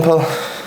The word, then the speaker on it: Pol: Today I am with Paul, is how you say your name, isn't it? Paul. Got it right, happy days. So Paul does social media.